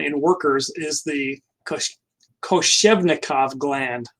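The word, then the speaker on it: Koschevnikov: workers is the kush koshevnikov gland i almost mispronounced that i always say kalashnikov but i know that's not right so this is found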